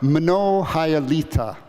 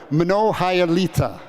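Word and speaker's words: Многая літа: uh the words are mono hyalita and the hardest syllable is the first one it's minnow can i hear you say minnow good monohyulita beautiful and i'm going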